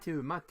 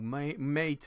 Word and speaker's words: MATE: que j'ai fait mais bureau M mat ou mate enfin il y a plusieurs prononciations possibles le voici alors Linux